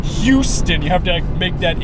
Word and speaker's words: Houston: me the other day you're supposed to say that H apparently the H is like very important you have to say Houston you have to make